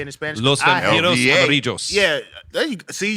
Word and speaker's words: Los Vampiros Amarillos: Los Vampiros Amarillos. Yeah, there you see. You do the double L.